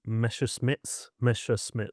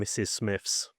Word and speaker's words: Messerschmitt: It was an aeroplane game called Hurricanes and Messerschmitts. Yeah, yeah. Can't say it properly now as an adult. I used to call it Hurricanes and Mrs. Smiths.